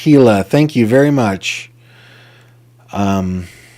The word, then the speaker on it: Gila: It is pronounced Gila.